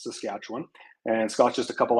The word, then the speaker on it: Saskatchewan: from being the us but Scott is from Saskatchewan that's how we pronounce it up here it's the scatch one and Scott's just a couple hours down the